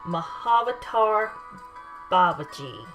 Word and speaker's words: Mahavatar Babaji: Mahavatar Babaji is the correct pronunciation.